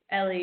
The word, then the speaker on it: Elly: Ellie or Eli? Yes, Ellie, you've got that right.